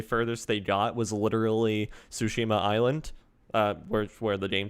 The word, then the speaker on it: Tsushima: because the first guy doesn't know how to pronounce tsushima correctly um and i was also hoping now he was the first guy on uh like narrating the video was like sushima and i was like no it's like no absolutely not